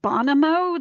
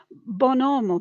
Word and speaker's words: Bonomo: your teeth but but it's spelled the same way but it's in in italians bonomo because it's two words bon and omo or homo h-o-m-o in latin meaning good man so bonomo means a